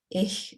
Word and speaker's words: ich: I taught German, but I certainly remember ich being often mispronounced. It's obviously probably the most high frequency word in the German language, and they often say ich or ich even. So that would be that CH sound will be a really important sound